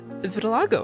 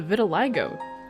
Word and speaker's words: vitiligo: can see that in the vitil Lago I gave her I don't know how to pronounce that and the Vitiligo I also gave her that's how you pronounce I was said I